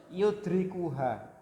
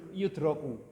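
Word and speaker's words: يُدْرِكُ: Makanya bacanya yudrikuha. Saya jelaskan karena ada beberapa yang baca kemarin yudroku. Ya kan? Bacanya yudroku majhul. Yang betul yudriku. Yudriku hal hissu.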